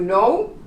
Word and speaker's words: know: To know, you don't pronounce the K.